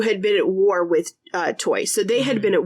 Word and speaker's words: Toi: It's spelled T-O-U or T-O-I, depending on, it's a variant. T-O-I is a variant of T-O-U. So Toi, I'm going to go with Toi because I'm pretty sure that's how you say it.